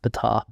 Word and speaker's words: Betar: But yeah, it's actually pronounced Betar.